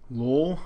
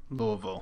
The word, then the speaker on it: Louisville: am going to little Lowell Lowell Lowell Louisville you have to say it like rocks in your mouth Lowell Kentucky Louisville Kentucky